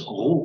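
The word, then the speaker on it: Ρ: Et puis la lettre P, en fait, qui à l'époque c'est grec, ça se prononce Rho, c'est en fait un R.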